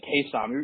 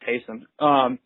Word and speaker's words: Taysom: I've been saying Taysom. You're really supposed to pronounce it Taysom.